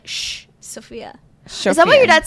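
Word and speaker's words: Σοφία: How do you pronounce your name in Greek? Sophia. But like the S is like shh. Sophia.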